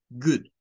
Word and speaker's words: good: Y esta palabra muchos la conocen, pero de acuerdo al IPA, estas dos O suenan a una U. Good, good, good.